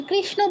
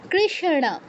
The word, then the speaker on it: কৃষ্ণ: বাংলায় বলি কৃষ্ণ। কৃষ্ণ বললে হবে না। কারণ আছে মূর্ধন্য। আমি কৃষ্ণ বললে তো দন্তন্যর উচ্চারণ হচ্ছে। আপনারটা শুনেই যেন মানুষ বুঝতে পারে এখানে মূর্ধন্য আছে কৃষ্ণ কৃষ্ণ কৃষ্ণ এরকম বিষণ এরকম ঠিক আছে কৃষ্ণ